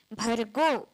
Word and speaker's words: भर्गो: उच्चारण हो चाहि तो भ पूरा भ निकलना चाहिए और उसके आगे जो रेफ है उसका भी उच्चारण होना चाहिए भर्गो भ का र का ग का स्पष्ट उच्चारण भर्गो आगे क्या है देवस्य